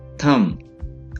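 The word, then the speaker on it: thumb: थम, अंगूठा, थम, अंगूठा। जैसे थम इम्प्रेशन होता है, अंगूठे का निशान, थम इम्प्रेशन। तो इसे थंब ना पढ़ें, अंगूठा, थम, सिंपली थम।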